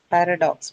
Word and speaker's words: paradox: Paradox. Paradox is what? It's a noun, पै trisyllabic noun. The first syllable, right? First one is where it's going to be.